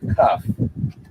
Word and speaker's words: kaf: The letter is pronounced as a K, as in the word kaf.